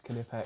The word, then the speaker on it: Knipex: Yeah, it's Knipex.